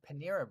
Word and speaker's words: Panera: you know how to spell Panera, I didn't mean to be joking or anything.